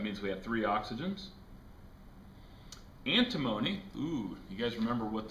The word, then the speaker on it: antimony: way to remember antimony antimony rhymes with alimony and if you have